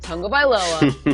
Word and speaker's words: Tagovailoa: This is how you pronounce Tagovailoa. Yes. Tung-o-vai-loa. Tagovailoa.